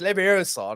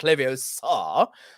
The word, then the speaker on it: Leviosa: Because obviously Ron took the piss out of Hermione saying it's Leviosa, not Leviosa.